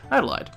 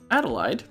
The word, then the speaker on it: Adlehyde: for today and that's the alternately Adelaide as I'm pronouncing it which is probably the correct um does he visit